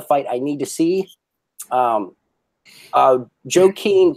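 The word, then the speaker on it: Joaquin: I need to see Joe Keene Buckley is that how you say it joki yeah he's actually got a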